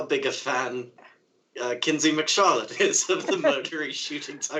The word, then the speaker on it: Kinsey McCharlotte: Mackenzie, was it? Kinsey McCharlotte.